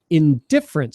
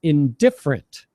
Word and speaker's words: indifferent: the second word is indifferent so we we stress the second syllable indifferent indifferent yes and the last